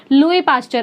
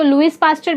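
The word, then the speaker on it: Louis Pasteur: लुई पास्चर। आप इसको लुइस पास्चर भी बोल सकते हो या लुई पास्चर भी बोल सकते हो, साइलेंट है एस।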